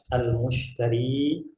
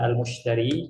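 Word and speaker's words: المشتري: Di sini antum bisa lihat dialog antara al-mushtari dengan al-ba'i. Ana garis bawahi ya. Ini aktor kita ini. Yang pertama ada al-mushtari, cara bacanya mimnya pakai dhammah ya.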